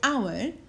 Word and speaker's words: hour: you something the word hour is written H o you on but we don't pronounce the H okay keep that in